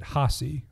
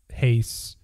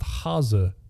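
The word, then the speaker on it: Hase: people will call it hace or Hasty or anything like that so we called it hasi which didn't really make a lot of sense to me I looked it up it's pronounced haza so I think I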